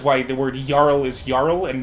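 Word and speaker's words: Jarl: language uh like scandinavian the j is pronounced like a y which is why the word url is yarl and not charles so the mod is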